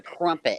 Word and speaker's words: crumpet: It's not a crimpet. Crumpet. It's a crumpet.